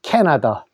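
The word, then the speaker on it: Canada: 카나다인데 실제로 영어에서는 이렇게 캐나다라고 합니다. 캐나다.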